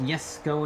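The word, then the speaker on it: Jesko: gear is sakonigseg jessico i know it's pronounced yes go in sweden but there's a j so deal with it 1685 horsepower and look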